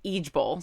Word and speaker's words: IJBOL: Which stands for, or it's pronounced Ijbol.